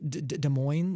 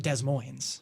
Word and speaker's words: Des Moines: Like Des Moines, that's French, right? It's a French name. Sorry. Maybe? But either way, that's like how you say it, like correctly. It's not Des Moines, right? But have you ever heard people say Des Moines? Because I've heard people say that. So I'd say that's like the Americanized version.